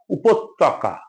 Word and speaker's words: উপত্যকা: নাই কৃষক কৃষক কৃষক উপত্যকা আমরা ভুল করে এটার প্রায়শই উচ্চারণ করি উপত্যকা ত কোন ওকার নাই ত জফলা আছে সেজন্য ত দে দে